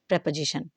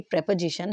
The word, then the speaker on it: preposition: That is प्रेपोजिशन। ठीक है, इसकी प्रोनाउंसिएशन रहेगी आपकी प्रेपोजिशन। हम इसे प्रीपोजिशन नहीं पढ़ेंगे।